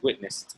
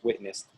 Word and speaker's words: witnessed: It's witnessed, by the way, 2 syllables, witnessed.